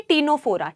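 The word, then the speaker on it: Ctenophora: टी से टीनोफोरा। टी टीनोफोरा में बेटा सी साइलेंट है।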